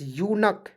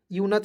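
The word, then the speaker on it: eunuch: एन यू सी एच यक यच नहीं पढ़े क्या पढ़ेंगे यक क्योंकि सी एच का प्रयोग यहां पे क के रूप में करना है स के रूप में नहीं करना है यच मीस देखिए यक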